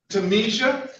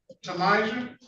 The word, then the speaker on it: Tamija: Uh, Tamisha is that did I get the pronunciation correct? Yeah, she need Tamijah.